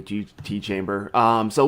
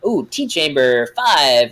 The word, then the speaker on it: Tchamber5: And now everybody is like really like I've heard it pronounced so many different ways, like Tchamber 5 or Tchamber or whatever, and it's actually just Tchambers.